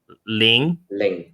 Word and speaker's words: Laing: to you guys pronounce Douglas Ling. Douglas Ling. Yeah, see, so it's like a silent A. Almost, right? It's almost like L-I-N-G. It's almost like pronounced L-I-N-G instead of L-A-I-N-G, right?